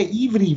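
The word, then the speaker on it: עברי: Eber ist übrigens der Hebräer. Da gehen wir dann weiter unten rein. Das ist das hebräische Wort Eber Ivri, wird es dann im Modernen ausgesprochen.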